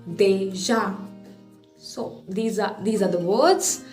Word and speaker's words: déjà: Déjà, D, accent aigu, J, A, accent grave. Déjà.